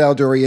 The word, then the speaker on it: Aldurien: my name is alder E and yes that does sound like one of the moons from Star Wars no it is not spelled the same nor does it pronounce the same this is how you